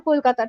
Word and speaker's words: Kolkata: 2001 it was changed from Kolkata to Kolkata. 2001 I was one years old. The government of West Bengal made the change to match the local Bengali pronunciation and move away from